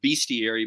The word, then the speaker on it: bestiary: always been pronouncing it bestiary but it's actually i understand it's bestiary like you were you say the word best but but really it's